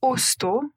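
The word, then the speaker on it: hosto: Pour rendre le dernier plus difficile ou peut-être plus facile, le mot oso qui commence par la lettre H. H O S T Osto l'osto, c'est l'abréviation de quel mot ?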